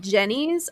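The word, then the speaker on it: Jeni's: Ooh, right now so Costanza brought home this this little pint of, it's called Jenny's. I think she gets it at HEB. And it's spelled like JENI, and it's called gooey butter cake.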